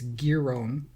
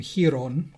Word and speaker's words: Giron: Apparently it's Giron, according to him. Oh. I thought I was saying it right then. I know. And the umpire was calling him Giron.